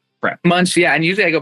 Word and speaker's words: Munch: Okay, did I pronounce it right? I didn't even ask beforehand. Munch Munch. Munch.